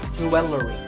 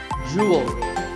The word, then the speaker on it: jewelry: It's spelled differently in American and British English, but it's pronounced the same. Jewelry. Jewelry. It's not jewelry and it's not jewelry. It's jewelry.